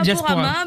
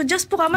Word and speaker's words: Diasporama: Est-ce qu'il faut prononcer le S qui est au milieu et qui est entre parenthèses? C'est au choix. Voilà. Eh ben, moi, je dirais Diasporama. Mais je pense que Diasporama, c'est plus sympa.